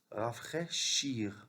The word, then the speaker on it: rafraîchir: Rafraîchir, AI se prononce et IR à la fin se prononce. C'est pas une lettre muette. Rafraîchir, comme finir, choisir.